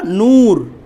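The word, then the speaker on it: نور: Huawei, যেমন দেখেন একটা শব্দ লিখলাম আমরা নূর, সেম শব্দটা লিখলাম উর্দুতে নূর, উ একদম টোটাল গুল করে ফেলছি, নূর। এটা হচ্ছে ওয়াওয়ে।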